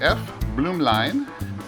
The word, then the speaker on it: Blumlein: another toy to play with i got the f bloom line that's how you say it f bloom line